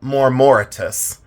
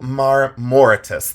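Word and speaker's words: marmoratus: I do this on memory and I always mispronounce this but it's turbo and then um morortitus. It's turbo maritus.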